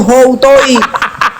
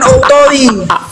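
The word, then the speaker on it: οὗτοι: Harusnya itu houtoi. Bukan autoi.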